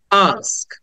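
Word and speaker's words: ask: স দেন ক আক আস্ক আটাকে টেনে বলতে হবে আস্ক এটাকে লং সাউন্ড বলে আস্কথলি আমরা এটাকে অ্যাথলেট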